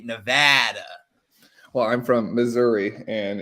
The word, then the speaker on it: Nevada: about nevada is that it's correctly pronounced nevada most people will say nevada that are from the east coast and if you say nevada in nevada they will shoot you it is like the worst thing that it's like it's